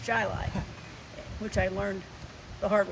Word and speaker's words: Chili: that including one called chili spelled chili but pronounced jilai which i learned the hard way as we